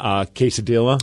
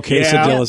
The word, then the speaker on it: quesadilla: joke to everyone because I know how to say it properly, but everyone looks at me funny. You know how to say it legitimately, yeah. too. Like tortilla, you know, quesadilla.